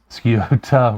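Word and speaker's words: Scioto: later in the uh as you say skiota River about this spelled Kyoto but uh um so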